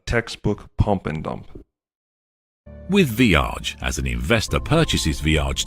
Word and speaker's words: VEIAG: VEIAG, pronounced Viage, was a short-lived crypto startup of which Daniel Mamheg was the CEO.